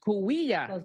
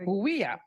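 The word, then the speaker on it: Cahuilla: Did I pronounce all that right? Coahuila. There we go. Coahuila.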